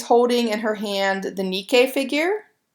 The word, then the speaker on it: Nike: notice that she's holding in her hand the nikkei figure spelled ni caiis nike right but we it really is pronounced Nikkei and we'll talk a little bit